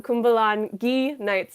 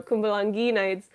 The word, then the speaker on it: Kumbalangi Nights: their movies definitely i'm cumbalan gee knights not g oh i said it wrong in my video kumbalangi nights uh is coming very